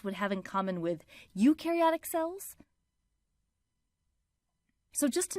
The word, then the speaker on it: eukaryotic: We explain the differences between prokaryotic cells and eukaryotic cells using the popular mnemonic that pro rhymes with no and eu rhymes with do.